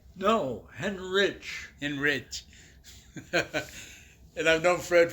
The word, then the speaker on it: Hendrick: Yeah, I'm sitting here with my friend Fred Hendrick. Did I say it right? No, Henrich.